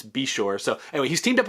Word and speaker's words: Beshore: busch is teaming up with i believe it's pronounced ben beshore we've been saying bayshore this whole time i believe joe gibbs confirmed it's be sure so anyway he's teamed up with a new